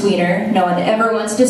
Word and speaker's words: Wienner: So, my name is Wienner, and it is Wienner. It's pronounced Wiener.